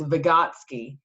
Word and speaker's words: Vygotsky: how it's spelled it looks super scary to pronounce it uh but it's vygotsky and he argued which is interesting a lot